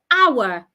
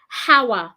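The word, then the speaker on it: hour: o r is pronounced our the H is silent do not say how don't pronounce the h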